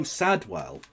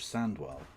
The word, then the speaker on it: Sandwell: Anyway, oh, Sadwell. He kept saying Sadwell instead of Sandwell.